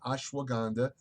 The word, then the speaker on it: ashwagandha: couple of videos ago ashwagandha and I know I'm pronouncing that right ashwagandha it's a higher Vedic